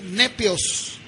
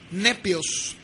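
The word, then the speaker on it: νήπιος: La palabra niño en el griego o se pronunciaría nepios, N-E-P-I latina O-S, nepios.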